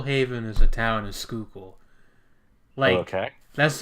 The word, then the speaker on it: Schuylkill: grow up in Pennsylvania's can you pronounce Schuylkill correctly because the way that it's spelled has like zero relation to how it's pronounced yeah I mean it's